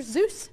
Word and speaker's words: Seuss: name or nickname anyway Dr Zeus our Dr Seuss house depending how you say it take a look at